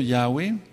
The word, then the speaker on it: Yahweh: será, dice el eterno Yahweh, y sabrán mi nombre y sabrán que mi nombre es Yahweh. No hay otra forma de pronunciarlo.